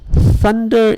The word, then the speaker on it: thunder: much mother and father actually use the Thunder is voiceless thunder thunder voiced will be like mother or father ok sadder that's that's